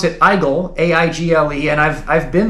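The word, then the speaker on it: Aigle: they they pronounce it eigel a-i-g-l-e and I've I've been there um and everyone just it's a i g l e but everyone's like oh it's pronounced egg like scrambled eggs or whatever they say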